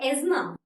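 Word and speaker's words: asthma: टी एच एम ए ठीक है ही गॉट एजमा this means अ disease due to breathless किसी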